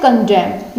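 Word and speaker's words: condemn: आगे क्या है, नेक्स्ट वर्ड क्या है, कंडेम यानी निंदा करना, ठीक है। क्या बोलेंगे हम इसको, कंडेम बोलेंगे। कंडेम बोला तो क्या हुआ, एन तो साइलेंट हो गया, कंडेम बोला मतलब क्या होता है, निंदा करना।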